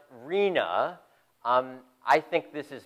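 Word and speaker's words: RHNA: I'm going to talk about next and it's pronounced Rina um I think this is perhaps worse than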